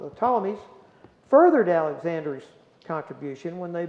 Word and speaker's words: Ptolemies: Now, the Ptolemies, excuse me, that P is silent, the Ptolemies furthered Alexander's contribution when they built a massive library in Alexandria, Egypt.